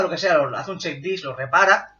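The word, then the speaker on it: CHKDSK: Hago un check disk a G. Un check disk es para comprobar el disco. Hago check, que se escribe así, CHK y disk, ¿no? CHK, DSK. G dos puntos.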